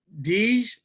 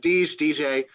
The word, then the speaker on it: D. J.: But today, we're going to be talking to Deej. Is that correct? Is that the right way to pronounce it? DJ, either is fine.